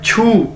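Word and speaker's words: 去: ठीक है, इसी तरह हमारे पास एक वर्ड है छू, QU, छू। चाइनीज के अंदर हम क्यू को 6 के तौर पर प्रोनाउंस करते हैं।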